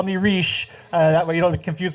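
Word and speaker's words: Reich: is re uh not R although it's spelled the same way um he goes by and says call me re that way you don't confuse me with the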